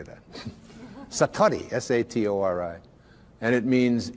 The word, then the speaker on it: Satori: excuse my Japanese but it's called Satori I'd love to say that Satori SAT Ori and it